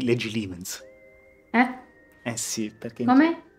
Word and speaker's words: Legilimens: Sarai pure una brava occlumante, ma qui ci sono dei bravi legitimens, eh? Oppure, come si dice ormai, legilimens.